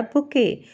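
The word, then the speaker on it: bouquet: अ girl और अ बुके बुके में जो एंड में टी है वह साइलेंट होता है इसलिए इसे बुके पढ़ते हैं फूलों के गुलदस्ते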